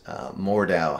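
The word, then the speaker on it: Mordhau: One of our game dev friends, Mordow, has that's spelled.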